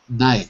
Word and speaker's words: night: Not night. Night. Okay. N-I-G-H-T. Night. In American English, we often spell it N-I-T-E because everyone knows you don't say the GH.